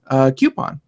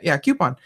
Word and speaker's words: coupon: Greg tried to call me on the way I say coupon or coupon. And of course, Craig. Coupon. So, of course, you go look it up, and you can pronounce it both ways.